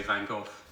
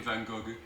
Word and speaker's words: Van Gogh: that is Vincent vanov how you pronounce his name depends on where you come from the French for example call him vangog the Americans van go and in England we settled for vano but he was Dutch